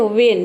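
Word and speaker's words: when: मतलब होता है कब अगर आपको किसी कोई बता रहा है कि व और ह इसे प्रोनाउंस करते हैं तो आपको गलत बता रहा है ठीक है वन नहीं होता है इसका प्रंस वन नहीं होता है वेन होता है वेन नेक्स्ट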